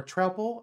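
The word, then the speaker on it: Troupple: the trle Chalice or trle actually I think it's how it's supposed to be pronounced I I've learned recently because it's trout plus Apple so that's appar actually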